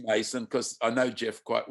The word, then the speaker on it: Masson: and and masson um probably called mason it's just that it's spelt mess on i keep i don't know if it's son or mason it is mason because i know jeff